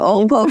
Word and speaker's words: OPLE: Yes, and like you mentioned, it's spelled OPLE. And people are like, how's that Opal? I said, because I'm dyslexic. So it's not OPAL, like the opal that a lot of people know, right?